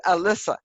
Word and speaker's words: Alyssa: this is a miss alyssa it rhymes with melissa okay so can you